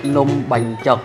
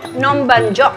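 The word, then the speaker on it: Num banh chok: How do you say it in Cambodian? Nom ban chok. Nom ban chok.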